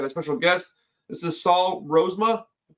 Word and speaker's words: Rozema: today I got a special guest this is Saul rosema I pronounced that correctly did I that's right excellent